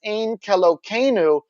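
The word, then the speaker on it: Ein Keloheinu: well-known jewish hymn uh orthodox jews pronounce it as ane when referring to it outside of prayer in order to avoid taking the name of god in vain or otherwise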